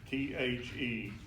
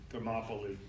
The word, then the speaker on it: Thermopylae: Know that the Spartans will forever be remembered as heroes for making their stand at Thermopylae, T-H-E-R-M-O-P-Y-L-A-E, Thermopylae.